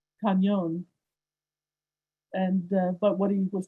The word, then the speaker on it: cañón: Harold used the Spanish spelling, C-A-N-O-N. The Spanish would pronounce it cañón.